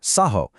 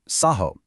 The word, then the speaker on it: Saho: Take the first form, Saho, with that little line over the A. That simply denotes a long A sound. So, Saho. Next, you see a Ha with a dot underneath.